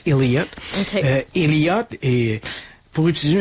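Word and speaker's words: Elyette: Là, ça s'écrit comme Ili là, ça se prononce Elliot.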